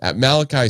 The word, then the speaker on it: Malachi: wildcat with olly one one hope I uh Malachi Smith that's how you say it though if